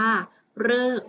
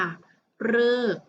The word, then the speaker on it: ฤกษ์: คือ คำ ว่า ฤกษ์ ฤกษ์ ที่ มี ตัว รอ รึ กอ ไก่ สอ รือ สี ที่ เป็น ตัว การันต์ นะ คะ คำ นี้ นะ คะ อ่าน ว่า ฤกษ์ ค่ะ ฤกษ์ ต่อ ไป นะ คะ